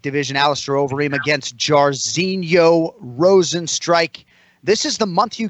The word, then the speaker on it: Rozenstruik: Jairzinho Rozenstruik. Just like it's spelled.